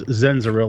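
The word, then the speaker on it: Xenziril: So you can find me on the YouTubes as Zenziril. Let me spell that out for you because it's literally kind of not phonetically correct.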